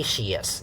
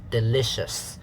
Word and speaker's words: delicious: shis so delicious okay don't say she yes if you say she is is wrong you are affected by the meaning yes no just so dili is also wrong i told you not delicious it's delicious so let's practice reading delicious when something tastes